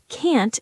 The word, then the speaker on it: can't: When you say can't, make sure it sounds different from can. Can't has a strong T sound at the end. Can't. And it's a bit longer.